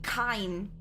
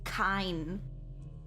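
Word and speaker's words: Kain: I say Kane by accident, but I think it's supposed to be Kine.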